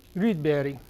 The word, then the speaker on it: Rydberg: Although in Swedish his name would be pronounced Rydberg.